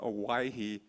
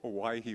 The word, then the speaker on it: Owyhee: I wanted to just kind of sidetrack here a little bit about the name Owyhee. It's an old spelling and pronunciation of Hawaii, and the reason these